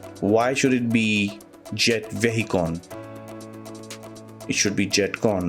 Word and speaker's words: Vehicon: the comments for this it's supposed to be Jet vehicon and not jetcon but I don't understand why should it be jet vehicon it should be jet